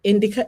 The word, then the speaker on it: indicia: Indic indicia. Indicia. Indicia. Indicia. Okay. Like I think it's like an indicator.